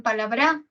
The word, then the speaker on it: palabra: y la última bra, pero los hablantes, ¿no? No pronuncian palabra con el acento en pa, tampoco pronuncian palabra con el acento en bra, sino pronuncian palabra, ¿no? Con el acento en la.